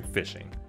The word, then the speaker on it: phishing: online in this video we're covering fishing no not the kind with boats and water and worms the kind spelled with the p h so what is phishing